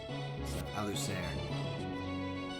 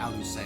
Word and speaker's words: Alucer: Alucer. Because obviously it's supposed to be like, you know, it's supposed to be pronounced like Alucer. It's just funny just to call her a loser.